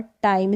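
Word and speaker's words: time: Bike, like, mic और टाइम, इसको बिक, लिक, मिक या टिम करके नहीं पढ़ेंगे, रूल है इसका।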